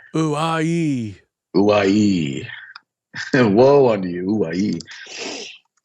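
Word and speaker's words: οὐαί: I want to say hoorah, but it's, yeah, it's something like that. Yeah, it's uai. Uai.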